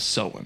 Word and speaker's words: Samhain: With the traditional Celtic celebration of Samhain.